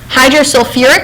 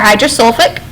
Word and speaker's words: hydrosulfuric: Okay, hydrosulfuric or hydrosulfic. Okay, both are correct terms or correct names, so don't worry too much about the UR. It just depends on how you pronounce it.